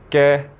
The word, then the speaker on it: 嘅: So word number 6 is ge. Ge. Ge is tone number 3, so flat tone but a little bit higher. It's more like a middle flat tone.